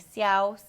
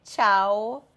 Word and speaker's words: ciao: Então, você precisa prestar atenção que é muito importante essa pronúncia da sílaba C e si. Então, ao invés de você ler ciao, cera ou denúncia, você vai ler ciao, c'era, denuncia.